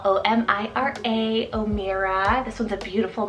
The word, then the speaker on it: Omira: meaning of life like white waves O'Meara spell o-m-i-r-a omira this one's a beautiful Muslim name meaning